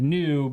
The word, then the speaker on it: NXU: tomorrow gotcha and uh the ex is silent tell us about the